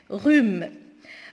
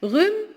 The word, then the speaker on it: rhume: Rhume. Rhume, si vous remarquez bien, on ne prononce pas le H.